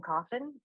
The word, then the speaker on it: Coffin: uh my name is coffin uh it's spelled c-o-f-f-i-n like the box i'm a licensed professional